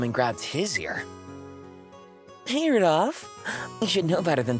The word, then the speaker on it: Rudolph: Anyway, this guy's name is pronounced Rudolph.